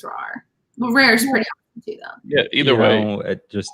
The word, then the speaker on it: Rahr: spelled yeah i mean think about it like it's rare it's probably technically supposed to be pronounced rawr you can you can